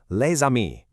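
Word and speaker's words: les amis: The S at the end of lei is normally totally silent, but because amii starts with a vowel, that s activates and makes a z sound. linking the two words perfectly.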